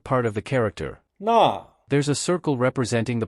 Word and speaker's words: 那: This is the meaning of 那 to help remember the pronunciation of 那 you can think of the first syllable in the place name Narnia from C.S.